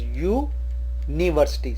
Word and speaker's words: university: University is pronounced as U-university, so starting with U, so we use A university.